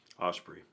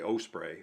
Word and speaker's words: osprey: I used to say osprey all the time, but I think it's osprey, like rhyming with like the Grand Ole Opry. I think that's how you're supposed to say it.